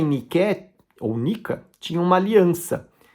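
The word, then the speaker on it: νίκη: né Nike na verdade do grego niqué escreve niqué mas se pronuncia Nica há inclusive uma revolta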